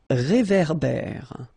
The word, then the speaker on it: réverbère: So here you've got this accent aigu, et, and then here you've got this accent grave, é. Okay, et, é. So it goes like réverbère. Okay, un réverbère.